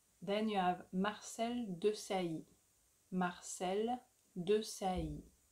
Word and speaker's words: Marcel Desailly: Marcel Desailly. Marcel Desailly.